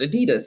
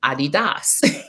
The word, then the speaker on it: Adidas: about the fact that Adidas is actually not pronounced Adidas it's Adidas I I remember that